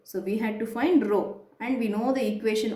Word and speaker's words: rho: Though it looks like P, it is not P. You are going to pronounce it as rho.